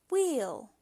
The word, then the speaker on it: wheel: W, H, but the H is silent. E, L, wheel.